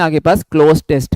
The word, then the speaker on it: cloze: यहाँ पे इसको क्या बोलते हैं हम लोग, CLOZE है इसकी स्पेलिंग, क्लोज टेस्ट, ठीक है।